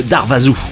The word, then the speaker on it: Darvaza: de Shadowmass, puis le duo underground norvégien de Darvaza, ça s'écrit Darvaza.